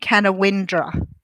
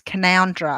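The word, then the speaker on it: Canowindra: o wi n DRA so when I pronounced it I went can a windra and someone said it's can Andhra and I was like how do you get commander out of that CA n o wi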